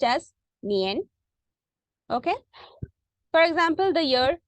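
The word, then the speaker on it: 年: is denoted by this character this character is pronounced as nian okay for example the year 2000 okay you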